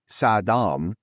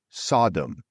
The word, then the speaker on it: Saddam: and psychological maneuver of changing the pronunciation of Saddam Hussein's name from Sadam which means learned one or leader to Sodom which translates to beggar or Sho black considered